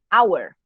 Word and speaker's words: hour: Hour, hour, an hour. The H at the beginning of hour is silent.